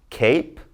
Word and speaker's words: cape: Long vowel I with a silent E. So listen to me as I say these. We've got plain, time, cape, hope, tube, bite, cute, and ripe. Never did I say the E because it's silent.